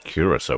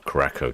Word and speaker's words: Curaçao: Flying Bird says Aruba, Bonaire, and Curacao, or Curaçao, depending on your pronunciation, or depending if you call it the Caribbean or the Caribbean, I suppose.